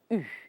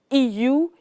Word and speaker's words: eu: et puis elles ont eu. Careful how you pronounce this. EU, you've got to get the French U. Pucker up your lips, point them towards the north.